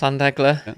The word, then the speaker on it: Llandegla: Did I pronounce that right? Yes, Llandegla.